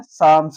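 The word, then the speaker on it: psalms: उसमें देखो अब पी के बाद में एस आता है तो क्या हो जाएगा? ये भी साइलेंट हो जाएगा। क्या हो जाएगा? साम्स हो जाएगा। इसमें एल भी साइलेंट।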